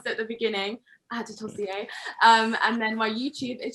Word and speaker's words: Adetosoye: So my Instagram and Twitter are both at Adetosoye, as you so kindly and so well pronounced at the beginning, Adetosoye.